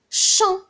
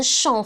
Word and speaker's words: chant: Par exemple, quelle est la famille de chant? Chant. C'est chanter. Donc, qu'est-ce qu'on va rajouter à la fin? On va rajouter un T parce qu'on entend le son T.